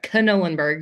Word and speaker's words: Knollenberg: to hear from Knollenberg. You do pronounce the K, by the way.